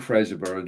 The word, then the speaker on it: Fraserburgh: Are we right in saying Fraserburgh, John? Peter? Is that it's like Edinburgh, isn't it? Yeah. We all say Edinburgh. It's spelled the same.